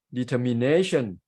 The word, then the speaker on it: determination: determined so we start at the middle syllabus syllable determine not determine and in determination the straight shift to the word nay it's